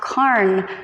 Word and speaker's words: Karen: so my whole life people always tend to pronounce my name as Karen, and so when I did go to Denmark several years ago, I thought at last people will pronounce my name correctly, but then they told me it's actually pronounced Karen or something weird like that in Denmark.